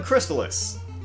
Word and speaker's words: Crystalis: 1997 I mean how about right we're playing crystallis is how you pronounce it yeah although I know some people who call it Chris Tallis that's not how it's pronounced not wrong alright